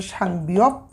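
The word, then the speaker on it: 쌍비읍: এই যে দেখুন, এই দুইটা বিয়প যখন পাশাপাশি লেখা হবে তখন এটার উচ্চারণ করব আমরা একইভাবে সাং বিয়প, সাং বিয়প।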